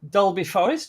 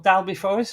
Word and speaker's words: Dalby Forest: run public stargazing events at Dolby forest or dalby Forest I should pronounce it probably uh set within the